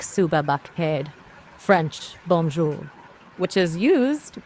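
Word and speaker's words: صبح بخیر: Urdu, good morning is suba baked, which is pronounced like suba baked.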